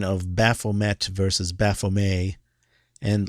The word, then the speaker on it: Baphomet: about the pronunciation of Baphomet versus Baphomet, and Laurent wrote to me and said it's Baphomet, it's French, and that's how I pronounced it.